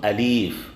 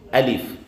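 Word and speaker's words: ألف: system you understand so the proper way of pronouncing alif is not alive it is alif two minutes then i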